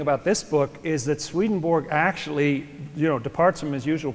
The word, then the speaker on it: Swedenborg: Your name is Swedenborg? Or you're an alien too? It's pronounced Swedenborg in Swedish.